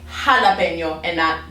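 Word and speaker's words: jalapeño: letter name and khutba actually makes an h sound so that's why we say when we see this word we say jalapeno okay or we see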